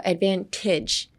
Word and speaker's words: advantage: Pretend to switch the tage into a I, so advantage.